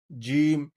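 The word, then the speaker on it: ج: আমরা কথা বলার সময় যেরকমভাবে স্বাভাবিকভাবে কথা বলি, জিম উচ্চারণ করার সময় আমার মুখটা থাকবে স্বাভাবিক, বেশি খোলা যাবে না। যেমন জিম, জিম হবে শক্ত, শক্ত করে জিম উচ্চারণ করতে হবে।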